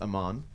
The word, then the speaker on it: AMVN: on a amv and don't music so it's pronounced Amman but you know up at the VM there's